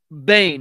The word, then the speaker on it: Boehm: disappearance of frederick joseph bain now i know his his last name is spelled b-o-e-h-m but um his last name is pronounced bane as in b-a-n-e as in the villain in the dark narc